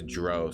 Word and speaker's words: drow: Pronounced drow as drow, you also pronounced drow. Which is it? I think it's dro. I think it's dro. I think it's actually dro, yeah. I think it's actually dro. I think that's how they pronounce it in the game.